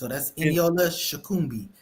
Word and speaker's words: Eniola Shokunbi: That's Eniola Shokunbi. That's how we're pronouncing it.